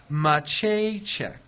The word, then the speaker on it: Maceychek: Grease is always But I have to ask you about your real last name, which is pronounced Maceychek. Maceychek, little Maceychek. mnemonic device. Yeah. My paycheck sounds like my paycheck.